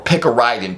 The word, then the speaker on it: picaridin: de definitely and definitely try picaridin or pick a rid in p i c a r uh i d i n I think is how you spell it um it it is